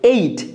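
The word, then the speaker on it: ate: আমরা এটাকে অ্যাট বলি, বাট এটা সঠিক উচ্চারণ হচ্ছে এইট।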